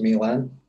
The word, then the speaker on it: Milen: of hands-on experience so my name is pronounced milan i know i have